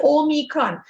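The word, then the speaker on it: Omicron: how you pronounce it some people say oh me kron i would not say or micron i don't know so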